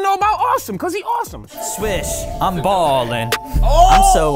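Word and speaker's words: Ahsem: your pets name okay so my name is awesome awesome no okay so it's spelled AHS e m where's that name from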